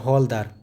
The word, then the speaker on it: हवलदार: तो आपको पता होना चाहिए कि हवलदार, जिसको हवलदार बोलते हैं, हौलदार, है ना, हौलदार करके बोला जाता है प्रोनाउंसिएशन, बट हवलदार वाला ही सेंस है।